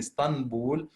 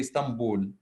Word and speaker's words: Istanbul: but actually we don't we replace the letter n with the letter M in pronunciation so instead of saying stand bull we say Stamboul okay so exactly the